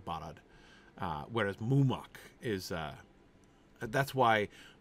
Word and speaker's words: Barad: Technically, it's stress on the first syllable. But it's not a long vowel, really. They're both kind of short ah vowels there. So, Barad.